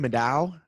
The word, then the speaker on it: Middaugh: say your last name meadow just like it looks born 25